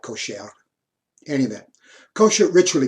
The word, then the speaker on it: kosher: talking about kosher kosher in hebrew the emphasis is always on the last syllable if i would pronounce this properly it wouldn't be kosher it would be it'd be more like kosher any of that kosher